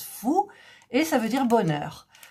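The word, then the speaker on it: 福: Ce caractère, ça s'écrit FU, F-U, ça se prononce fou.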